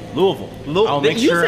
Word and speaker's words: Louisville: And I want to make sure it's Louisville. Louisville.